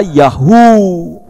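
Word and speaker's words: יהו: Tapi kalau Yah ada huruf Waw, itu dibaca Yahu.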